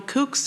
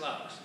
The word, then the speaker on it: Laux: I'm sorry, was your name Kooks or? Yeah, it's pronounced Laux.